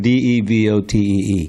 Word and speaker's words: devotee: The word D-E-V-O-T-E-E. Can you say it? D-E-V-A-T-O. D-E-V-O-T-E. D-E-V-O-T-E. How do you pronounce that? Devotees. You got to get that V in there. Devotee, not devotee.